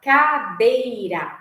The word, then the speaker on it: cadeira: gente for pensar cadei só que o pulso forte tá em qual acento da de qual sílaba né cade tá no de então o acento ficaria no de por quê Porque é a sílaba mais forte é o ponto principal